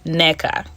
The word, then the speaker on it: Nneka: Your name is pronounced nneka.